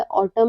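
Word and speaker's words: autumn: कि एम के बाद यानी यानी क्या है एम के बाद यदि एन आता है तो हमारा एन जो है वो क्या होता है व साइलेंट रहता है लेटर पी कब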